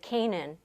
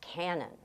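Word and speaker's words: Kanan: was called Cannon Road, people pronounce it, and to this day they pronounce it Canaan, and they would jump on you and say, no, it's pronounced Cannon.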